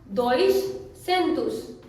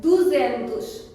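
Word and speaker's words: duzentos: Many people से दोइश सेंतुस, because 2 and 100, दोइश सेंतुस, but that is completely wrong. We cannot say it like that. 200 को Portuguese में कहते हैं दुजेंतुस, दुजेंतुस।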